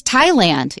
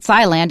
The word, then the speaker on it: Thailand: And then there's Thailand. It's not Thailand, it's Thailand.